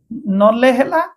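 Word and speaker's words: kneel: সিম কেন এত কে সাইলেন্ট করি ন তারপরে নলে তারপরে ডিরে স্টার্টিং সাইলেন্ট করিবে নলেজঞান আ দেখ সাইলেন্ট এন আই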